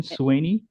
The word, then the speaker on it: Swaney: The pronunciation, Swaney? Yes, yes. Oh, that's great.